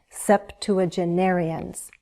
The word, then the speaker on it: septuagenarians: Septuagenarians. Septuagenarians. There are some variations with that word, but I think I've heard it most often said as septuagenarians. Practice it and you'll sound confident.